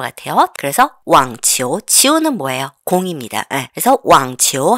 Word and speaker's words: 网球: 요렇게 넣어야 돼요 자 왕치호 발음 삼성 이성이기 때문에 왕치호 이렇게 했죠 따라해 볼까요 왕치호 왕치호는